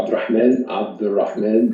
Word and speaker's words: Abdelrahman: sure hi guys uh this is uh abdul rahman and this is hundred percent uh right uh pronunciation for my name uh i have recently